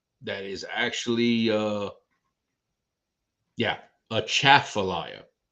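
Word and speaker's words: Atchafalaya: is actually uh yeah a chat for liar emphasis on the second syllable not not atrophilia that's how we know you're not from around here if you say atrophilia then we know second syllable remember that y'all heard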